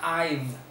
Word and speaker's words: I've: El have se contrae así y se pronuncia I've. No es I've, es I've, v, como una V, pero recuerda que en inglés esta es V y esta es V, V. Fíjate bien los labios, V, y esta es V, I've.